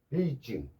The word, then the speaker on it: 베이징: 근데 중국 애들은 어떻게 발음하는지 압니까? 북경이 아니고 베이징.